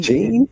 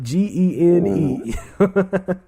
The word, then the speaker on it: Gene: Gene? Yep, Gene.